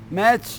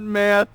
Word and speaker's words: Matt: It's not math, it's Matt.